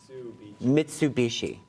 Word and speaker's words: Mitsubishi: Am I pronouncing that correctly? Mitsubishi. Mitsubishi.